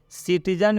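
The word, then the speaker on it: citizen: मैं यूँ कहूँ तो सिटीजन में सी का उच्चारण स हुआ है, केबल में सी का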